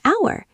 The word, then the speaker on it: hour: An hour. H is silent. Sounds like ow.